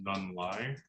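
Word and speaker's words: Nhung Ly: I believe her name is pronounced Nun Lai.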